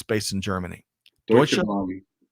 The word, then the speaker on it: Deutsche Bahn: So, Greg, how would you pronounce the top one there? It's based in Germany. Deutsche Bahn. Deutsche Bahn.